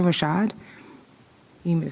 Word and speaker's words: Rashad: Oh, it's Maisha Rashad. You need me to spell it for you?